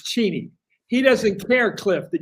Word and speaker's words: Cheney: So Cheni and his name is pronounced Cheni. I'm sorry. Check. That's what I remember. You always made a big deal of that in the show. Ask his wife. Ask his daughter. It's Cheney.